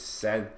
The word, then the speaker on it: Sen: So the last person to do is this guy right here, this Sen guy, that's how you say it, it's Sen.